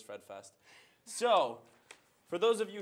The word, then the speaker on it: Fred Fest: It's not Fred Fest, it is Fred Fest.